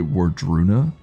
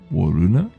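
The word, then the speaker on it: Wardruna: take, was, uh, well, I guess you would say Warruna, but I think they pronounce it like Waruna, which they're from Bergen.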